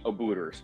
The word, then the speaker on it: Obooters: short message so we can share it with Obooters who will be conducting upcoming interviews? Could I summarize your key tips, like for interviews? Ah, okay. And this is for a message for the Obooters. Am I pronouncing that right?